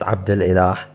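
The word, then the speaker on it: عبد الإله: First of all, it's Abdul Ilah.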